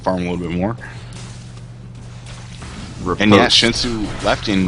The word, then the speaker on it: riposte: Okay, so Tannen just educated me on Fiora is how you pronounce her W, and it's riposte, and that kind of makes sense. I've heard several different ways of pronouncing it, but thank you, riposte.